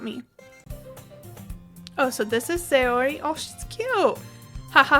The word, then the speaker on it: Sayori: According to the YouTube video I just watched, it is Sayori, so we'll go with that. And if it's wrong, blame YouTube, not me. Oh, so this is Sayori.